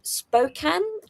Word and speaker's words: Spokane: team in the USL in the US who Spokane I believe is how it's pronounced.